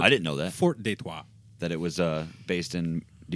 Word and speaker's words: Detroit: It's actually pronounced Detroit. Yeah. Okay? It's Yeah, French.